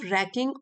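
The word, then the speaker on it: wracking: Turning a simple conversation into a nerve रैकिंग, W silent है, nerve रैकिंग ऑर्डील।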